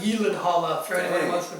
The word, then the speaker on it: Gyllenhaal: You know his name's actually pronounced Gyllenhaal. It's not Gyllenhaal.